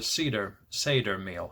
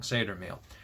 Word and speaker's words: Seder: So it's called a Seder meal. I'm saying it wrong. Seder meal.